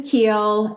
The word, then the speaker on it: Kuehl: about that you're fine I've been saying your name wrong for two years Cory that's okay it's keel and it's not a big worry I'm not